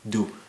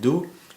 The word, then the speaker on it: du: i pronounce it correctly but it's just spelled as d and u do it's like part of my name ardu but then without a but anyway those are the